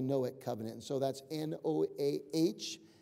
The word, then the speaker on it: Noahic: And so that's N-O-A-H-I-C, pronounced Noahic covenant.